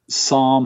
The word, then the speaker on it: Sarm: Now, Psalm Hook End was a beautiful studio in the UK.